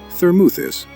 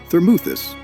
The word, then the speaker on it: Thermuthis: The Greek mu spelled m o u in Greek is a long ooh sound exactly like moot.